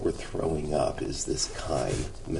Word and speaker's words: chyme: guide in the book, it's K long I-M, chyme, and this is just, that you've had experience with chyme.